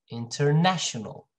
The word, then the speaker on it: international: this syllable right here and then this one international remember a little louder and higher pitched international international all right and it's